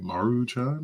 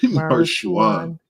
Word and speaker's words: Maruchan: I think it's like Maruchan or something like that, but Marshuan.